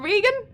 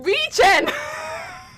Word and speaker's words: regen: Is it not Regan?